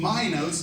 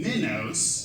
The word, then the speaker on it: Minos: but it was King Minos, not King Minos, Yes. I was curious about your opinion on that. I think what Minotaur means is bull of Minos.